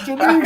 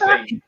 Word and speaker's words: Genesee: It's Genesee. Hey, go to the website. Go to YouTube. See what the company pronounces it. It's Genesee.